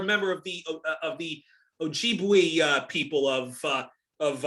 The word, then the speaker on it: Ojibwe: me if i'm if if i'm about to butcher the name but you're but you're a member of the of the ojibwe uh people of uh of uh of the